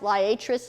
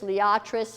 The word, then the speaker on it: liatris: if you want butterflies latus latris liatris depending on your preference of pronunciation gay feather Kansas gay